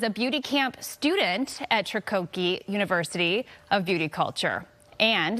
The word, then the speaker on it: Tricoci: Am I pronouncing that correctly? Tricoci, but close.